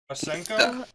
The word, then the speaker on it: Masenko: I even did, oh god, I hope I'm pronouncing this correctly. It's been years, but the, Masenkyo. Masenko?